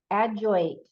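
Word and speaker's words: ajoite: is about forgiveness and letting go and then adjoint I don't even know it's spelled a j o i t e this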